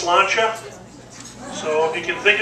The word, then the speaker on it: sláinte: And there's a Gaelic saying for these moments in time that means cheers, and it's pronounced sláinte.